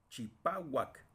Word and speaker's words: chipahuac: Chipá, chipahuac, blanco. Chipá, ahí está la sílaba tónica, pa.